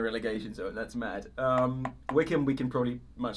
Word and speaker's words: Wycombe: wycombe by combi or whatever the combat no wickham yeah they won the league one playoffs championship